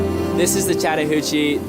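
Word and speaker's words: Chattahoochee: This is the Chattahuchi. The way that you can kind of pronounce is like chatta and then hoochi. A lot of people abbreviate to the hooch.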